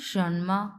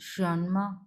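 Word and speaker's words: 什么: number কি আছে দেখেন সনমা হ্যাঁ সনমা সনমা এইরকম সনমা সন টা হচ্ছে দুই নাম্বার টন সো সন এইভাবে উচ্চারণ হবে ম এটা নিউট্রাল টোন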